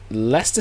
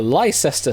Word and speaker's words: Leicester: Which Leicester City or Lester City for those that can't pronounce it right is the correct answer.